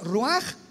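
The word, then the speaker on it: רוּחַ: Por eso el Espíritu Santo se pronuncia roaj, se escribe roach, ch.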